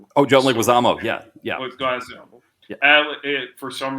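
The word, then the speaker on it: Leguizamo: Oh, John Leguisamo.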